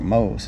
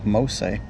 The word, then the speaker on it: Mose: sign here it says i was saying fort mohs it's actually mostly i was pronouncing it wrong sorry about that this